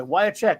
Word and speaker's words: Wiacek: Think of it this way: Wyacek. Why not cash?